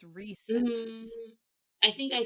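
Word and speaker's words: Rhysand: Like, I was definitely not saying Resand, I was saying Rysand, but it's Resand.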